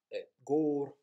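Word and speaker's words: gabhar: G-A-B-H-A-R, which is pronounced as it's meant to be tapped off. Gore, where the A-B-H vowel has become O, short vowel, gore.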